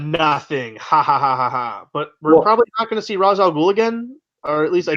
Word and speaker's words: Ra's al Ghul: is Ra's al Ghul I know how to pronounce that one Ra's al Ghul he's watching it all everything going down from